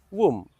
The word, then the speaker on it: womb: The last letter B is silent and hence the pronunciation womb.